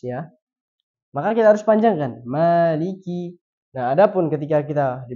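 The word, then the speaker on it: مَالِكِ: kita pakainya hafz ya maka kita harus panjangkan Maliki nah Adapun ketika kita di belakang imam yang mungkin memiliki warsy dia bacanya Maliki maka kita tidak perlu membatalkan Salat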